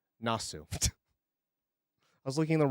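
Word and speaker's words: なす: Um, Nasu. Nasu.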